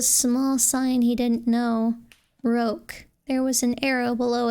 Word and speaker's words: roque: It's pronounced roque, Daddy was saying.